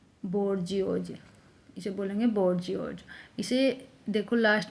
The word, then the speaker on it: bourgeois: जो middle class से belong करता है, बोर्जियोज, इसे बोलेंगे बोर्जियोज। इसे देखो लास्ट में इज आ गया, बोर्जियोज। इसकी स्पेलिंग भी इम्पोर्टेंट है, इसकी स्पेलिंग भी हम राइट डाउन करके देख लेंगे एक बार, बोर्जियोज।